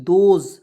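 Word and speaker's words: those: टी एच टी एच तो इसका उच्चारण द के रूप में होता है ठीक है और देखिए ओ का प्रयोग करेंगे ओ के लिए दो और ए से होता है ज तो दोज और ई को इसमें साइलेंट रखेंगे दोज और दोज मींस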